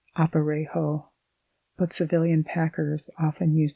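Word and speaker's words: aparejo: saddle or what is known as an opero pronounced opero but civilian Packers often use the cross tree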